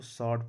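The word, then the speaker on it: sword: एस है, तो एस डब्लू ओ आर डी है तो इसमें डब्लू का उच्चारण नहीं करेंगे। एस ओ आर डी, इसको शॉर्ट पढ़ते हैं।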